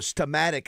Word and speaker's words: Steamatic: Yeah, I was going to say, just so for people know, Stematic is spelled Stematic. S-T-E-A. Stematic. Stematic. Yeah, Stematic. It's not S-T-E-M, is it? Yeah, it's It's like steam and then attic.